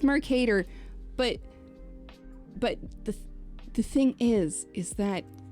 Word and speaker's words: Mercator: Mercator, yes. Mercator, but my brain wants to say Merca. No. Mercator. It's Mercator, But the thing is